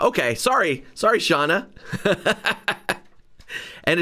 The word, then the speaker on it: Shauna: Oh, it's Shauna. Okay, sorry, Shauna.